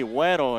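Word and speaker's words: güero: ramirez he has uh huero how do you pronounce that in spanish oh it'd be weddle and it means uh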